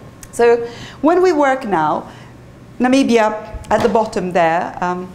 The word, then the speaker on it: Namibia: you know it's what namibians look like um you know do when they do namibia it's also the the one that famously um president trump couldn't pronounce and pronounce nambia um so but lots